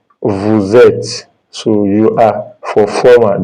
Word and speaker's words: vous êtes: That means you are going to turn this S to Z for pronunciation. It's going to be vous êtes. Vous êtes.